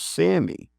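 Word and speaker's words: SAMe: depression and that's a a common one called Sammy. Oh, wow. What how do you spell that?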